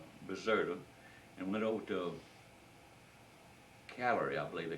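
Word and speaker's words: Cagliari: and went over to calorie I believe they call it c-a-g-l-a-r-i they you don't pronounce a g in Italian they call it calorie we've landed there and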